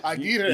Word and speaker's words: Aguirre: Aguirre. You got to roll them.